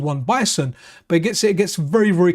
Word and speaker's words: Bison: Bison, you know, Mike Bison, rhymes with Tyson, you're called Boxer.